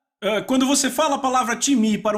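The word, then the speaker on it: τιμή: em português pronunciamos talvez time não se pronuncia dessa forma em grego se pronuncia time repita um time ok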